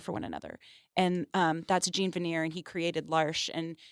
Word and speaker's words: Jean Vanier: Is it Jean? Jean Vanier. Jean Vanier. From L'Arche. That's how they told me to say it.